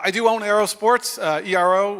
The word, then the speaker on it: ERO: do own Aerosports uh ero well we pronounce it Arrow because a lot of our focus is on aerodynamics I've been doing bike